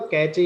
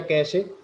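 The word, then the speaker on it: cache: वो कैचे file है, कैचे मतलब कैचे या कैशे जो चाहे वो प्रोनाउंस आप कर सकते हैं।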